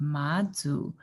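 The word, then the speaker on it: Mazu: name this is a goddess her name is madzu so it's spelled m-a-z-u and it's present pronounced madzu she is a goddess over parts of the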